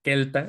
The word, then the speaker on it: celta: Celta que de hecho no se debería decir celtas debería decir quelta esa c se debe pronunciar como K igual como la c en latín por ejemplo no